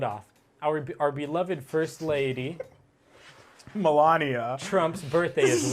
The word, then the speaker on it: Melania: Wish Melinda Trump a happy birthday. Melinda? How do you say Melania? Melania.